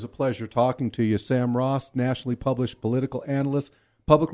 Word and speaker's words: Sam Raus: Sam Raus, thank you for correcting that pronunciation, too.